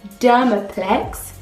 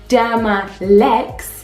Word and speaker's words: Dermalex: Then we go in with Dermaplex. That is not how you say it. It is Dermalex.